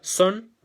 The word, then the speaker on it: son: nuevo en la palabra son ya se escribe así pero esa o traten de pronunciarlo como si fuese una y ya como una a sanz y sant sería